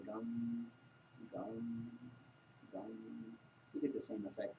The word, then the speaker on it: Gam: Gum, they say, is the sound which is specific for Ganesha. Gum. G-A-M, you would spell it. Gum. Sounds like chewing gum, maybe.